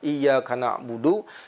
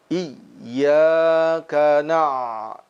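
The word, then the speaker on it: إِيَّاكَ نَعْبُدُ: di dalam Idgham Bighunnah seringkali diucapkan kalimat iyakanabudu seperti membaca Ia yang berguna didalam Idgham Bighunnah ia ganep budu wa iya nah ini adalah pengucapan huruf yang bertasydid yang tidak tepat sesungguhnya dia dibaca Ihya kena Iya karena abu2 iya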